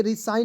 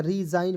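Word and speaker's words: resign: बाद देखिए यहां पे आर ई एस आई जी एन तो जी को साइलेंट कीजिएगा आर ई को पढ़ लीजिएगा री एस आई जी एन तो हो जाएगा जाइन रिजाइन ठीक है अब देखिए रि साइन नहीं पढ़िए रिजाइन पढ़ा जाएगा एस आई जी एन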